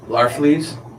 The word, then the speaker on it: Larfleeze: Agent Orange, how do you pronounce his name? Larfleeze.